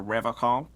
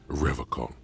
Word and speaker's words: Revachol: He pronounces Revocol with a hard K, unlike other people.